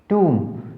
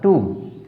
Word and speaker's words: tomb: टूम, टूम कैसे बना, जिसे हम करते हैं TO2, ऐसे इसका उच्चारण क्या होगा, टूम, ठीक है। तो टोम नहीं बोलना इसको, टूम।